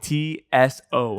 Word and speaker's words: Tso: It's tso. I believe the t is silent.